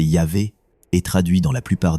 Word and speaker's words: Yahvé: Le tétragramme, souvent restitué comme IG whh, prononcé Yahvé, est traduit dans la plupart des Bibles françaises par l'Éternel.